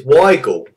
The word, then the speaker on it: Weigl: It's Weigl, but starts with a V.